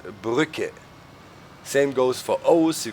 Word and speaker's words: Brücke: You know, a normal U is pronounced U in German, and if you have the 2 dots, it's Ü. So it's not Brücke, but Brücke.